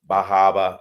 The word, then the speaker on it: Bar Harbor: of Mount Desert Island Bar Harbor the or bahaba as it is pronounced up there um the entirety of